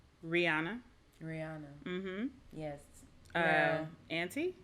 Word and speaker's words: Anti: rihanna mm-hmm yes um auntie auntie yeah auntie anti it might be anti okay yeah whatever works